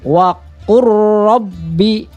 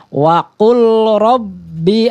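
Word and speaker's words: وَقُلْ رَّبِّ: Jadi jangan membacanya waqul rabbi a'udzubika, salah ya. Jadi lam itu sudah dilebur sama huruf ro.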